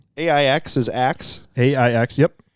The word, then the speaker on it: Aix: name that is their scientific name AIX is Axe ax yep X he said he looked up the pronunciation of it seems wrong it can seem